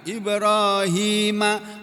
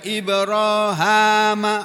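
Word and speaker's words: إبراهيم: Walaupun yang masyhur, yang terkenal Ibrahima, tapi ada yang bacanya Ibrahama.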